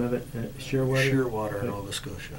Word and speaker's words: Shearwater: Shearwater, Nova Scotia. How do you spell that? Name of a bird, Shearwater, S-H-E-A-R, water. Oh, okay. One word, Shearwater. Okay. It's a seabird.